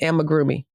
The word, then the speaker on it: amigurumi: Say it again. Amigurumi. And listen, y'all, I was calling it amigurumi. Okay. And she kept saying that it's not right, that these have way more syllables than I am giving it. So it's not a roomy groomy. What is it again?